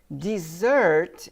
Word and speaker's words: dessert: and here I'm going to stop again because dessert is SOA right d e s s e